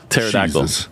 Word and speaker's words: pterodactyl: a pterodactyl oh yeah pterodactyl and the p is silent and pterodactyl always throws